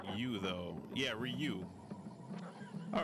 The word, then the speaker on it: Ryu: You is pronounced like you though. Yeah, Ryu.